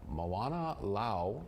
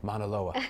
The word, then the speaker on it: Mauna Loa: But this video right here was shot at the summit of the uh Moana Lau, well over, did I say it wrong? Say itaa Mauna Loa. There you go.